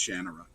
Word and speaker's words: Shannara: And he looked at me and just softly said, "It's actually pronounced Shannara."